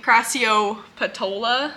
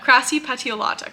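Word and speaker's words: crassipetiolata: crassy petio Lata and I'm finally gonna start saying it correctly because I've just been saying crassio patola which is definitely it's definitely the other way around crassy pet grassy petio Lata crassy patialata crassy patialata but yeah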